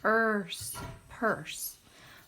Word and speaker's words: purse: This one is like nurse, you are, with a silent little E on the end. Purse.